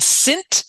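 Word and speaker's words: Sint: a great movie called synth which is the Dutch pronunciation of Saint and it's about how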